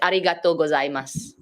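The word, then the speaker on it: ありがとうございます: When you write it, it sounds like there's two words, but because it's combined in a sentence, it just becomes mas.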